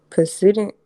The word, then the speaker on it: precedent: Precedent. Precedent.